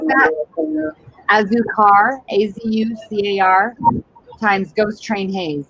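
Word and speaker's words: Azucar: Okay, how do you pronounce that? Azukar, A-Z-U-C-A-R, times Ghost Train Haze. Azukar times Ghost Train Haze.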